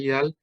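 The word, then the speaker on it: Widal: La enfermedad de Vidal, Vidal se escribe, ¿verdad? Se lee Vidal, consiste en tener poliposis nasal, asma, corticodependiente e intolerancia a la aspirina.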